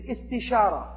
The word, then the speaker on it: istishara: The second step of a decision-making process is istishara. That sounds kind of like it rhymes with istikhara, is because it comes from the same verb pattern, which basically is the Arabic word for seeking counsel, seeking advice.